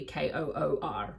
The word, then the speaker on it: Chur: Because it's spelled Chur. And then I was like, no, maybe it's like Chur. And then we heard someone call it Chur. And then it literally was like phonetically Koor.